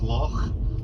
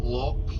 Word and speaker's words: loch: The word is loch. I don't want anybody coming up to me saying, oh John, that loch was beautiful.